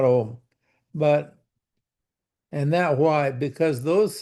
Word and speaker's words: Om: So it's pronounced Om, actually, not Om.